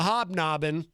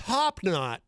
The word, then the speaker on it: Hop Knot: the street, or as our friend Crazy Joe calls it in his videos, the Hobnobbin. But it's actually pronounced Hop Knot.